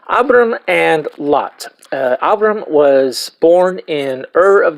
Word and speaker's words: Abram: verir today we're going to be looking at abam or as many of you have pronounced it Abram um abam is actually the more correct Hebrew pronunciation of